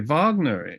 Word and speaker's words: Wagner: a V like we say Vagner in German don't we look like Wagner remember Robert Wagner that